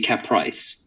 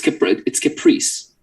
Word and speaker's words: caprice: So I would think logically it would be caprice, right? But no, it's caprice.